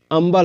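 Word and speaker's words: humble: उच्चारण हो रहा है यहां पर अंबल हो रहा है हंबल नहीं अंबल मतलब विनम ठीक है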